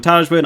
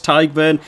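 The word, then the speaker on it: Tadhg: for the pronunciation advice i used to call him tajwan i now know it's tiger it'll be tiger from now on and james ryan two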